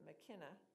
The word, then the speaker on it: Mycenae: At Mycenae, but they pronounced it McKenna, he stood with her